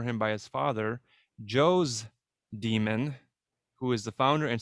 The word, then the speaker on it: daemon: latin daemon or demon d-a-e-m-o-n pronounced demon that's a tutelary deity